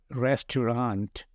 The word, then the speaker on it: restaurant: tell you the word restaurant their spellings are r s t a u r a n t but remember always that t is silent in restaurant so you always tend